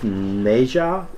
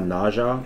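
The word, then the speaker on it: Nezha: on nage on also it's pronounced MeJA and not nausea apparently according to the movie but also people in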